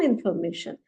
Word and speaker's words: Information: Ein paar Information, meaning some information. Information, if you see, the spelling is exactly same as in English, but the pronunciation will be Information.